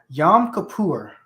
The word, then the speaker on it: Yom Kippur: because I don't know anything about anything um Yom Kippur that's how you say it uh it's a